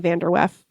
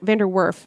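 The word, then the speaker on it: VanDerWerff: an interview with Emily vanderwef vanderworth I now realize I said her name wrong through the rest of the episode I'm sorry I left out the r um so in this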